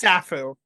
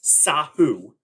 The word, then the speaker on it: Sahu: wrong, but I I I think it's Safu, but I might be You're so close. I'm gonna give it to you. It is Sahu.